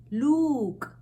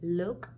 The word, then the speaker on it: look: we have a look we don't say luke we say look same way we don't